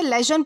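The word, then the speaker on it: lesion: दोस्तों इसे लेजन pronounce किया जाता है, जिसका मतलब होता है घाव या फिर चोट।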